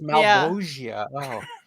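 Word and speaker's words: Malebolgia: Oh, it's Malbogia.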